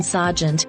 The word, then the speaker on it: sergeant: police station Corner Sergeant note the pronunciation Sergeant you have the same vowel sound in Clark Clark Derby Derby Berkshire Berkshire pretend and pretense role noun